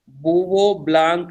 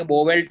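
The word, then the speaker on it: Bouveault–Blanc: अब आप देखो, इसको हम लोग तो ऐसे ही बोलते हैं, सब टीचर्स हम लोग ऐसे ही बोलते हैं, बुवो ब्लांक रिएक्शन। ठीक है, अब इसको अभी पढ़ने जाएंगे स्पेलिंग के हिसाब से तो ये बोवेल्ट जैसा कुछ दिखता है।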